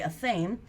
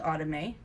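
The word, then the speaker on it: athame: my autumn a okay some look at the spelling a th AME and they say a same it is pronounced out of me okay so I'm going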